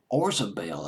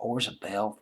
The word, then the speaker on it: Orzabal: Kurt Smith and Roland Orzabal I believe is how you pronounce his name Oh RC a BT